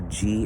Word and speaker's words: ghee: oil sometimes with ghee or G as it sometime pronounced which is a clarified